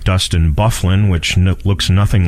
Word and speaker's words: Byfuglien: who the defenseman with Winnipeg spells his name B Y f ug l ien it looks like by fuglie n' okay in fact during a preseason game several